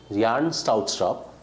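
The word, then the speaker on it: Bjarne Stroustrup: Yarn Strautstrup. The V is silent, okay?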